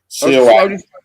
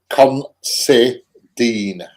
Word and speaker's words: Considine: Considine. Again. Considine. Yes, spell it.